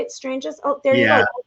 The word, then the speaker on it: Stranges: Stranges?